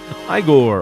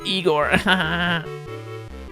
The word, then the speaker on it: Igor: of it is nice igore all right actually it's pronounced eigor okay that's enough gambling